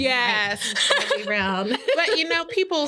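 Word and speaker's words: Ketanji: Well, that's the same with the Supreme Court with Kajani Brown. I don't think that's right? I don't think that's how you say her name. Katani. There's a J in there.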